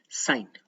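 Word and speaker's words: sine: नाम रखा गया क्या, साइन। लेकिन हम लिखते हैं क्या, सिन। कुछ लोग सिन बोलते हैं, सिन नहीं है, साइन ही है। इसको आप प्रोनाउंसिएट भी करोगे साइन, सिन मत बात कर देना इसको।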